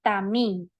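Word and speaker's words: תמים: Perfecto es una persona sin defecto y se pronuncia tamín su definición dice que es una persona íntegra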